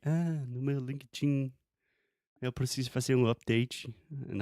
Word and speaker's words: LinkedIn: So the first part is when you say linked, you are just adding a T sound after the K. So linked. You're not saying linke, just linked.